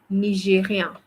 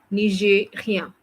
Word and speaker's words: nigérien: Je suis Nigérian. Okay. So Nigerian, we say Nigérien.